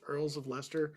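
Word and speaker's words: Earls of Leicester: to see that um did you know that's how it's pronounced ears of Lester like Cher If you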